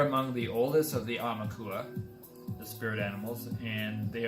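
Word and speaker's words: Aumakua: And Amaukua, if I'm pronouncing it properly, A-U-M-A-K-U-A, is a Hawaiian word, which is a deified ancestral guardian spirit, frequently manifesting as an animal.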